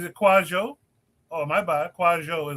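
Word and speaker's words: Kwadwo: Kwajo is the pronunciation, not Quadwo.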